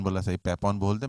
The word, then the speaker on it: Papon: आपने पापौन बोला, सही, पैपौन बोलते, मैं बोलता पापौन बोल देना, क्योंकि आप